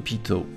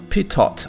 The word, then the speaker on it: Pitot: It is called the pitot tube after its inventor, Henri Pitot, or pitot, I guess, if you try to pronounce it in English. But since it's one of the very few words I can pronounce correctly, I keep calling it pitot.